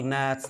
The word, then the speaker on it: gnat: The small gnats, gnat means a kind of insect. G is not pronounced.